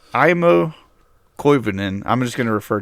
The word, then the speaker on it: Aimo Koivunen: Um, so but it's IMO Kenan.